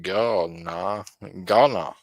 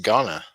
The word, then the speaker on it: Ghana: That is a pronounced ga gonna. Okay, it's pronounced Ghana. I got you.